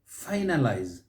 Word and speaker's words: finalize: how about the word finalize finalize finalize saying correctly stress is on that first syllable finalize here we say